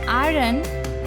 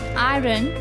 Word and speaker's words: iron: Is it iron? No, it is not iron, it's iron. Yes, it's iron. Just don't focus on that r sound.